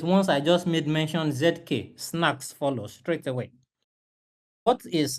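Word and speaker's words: zk-SNARKs: This privacy layer is powered by something called ZK Snacks.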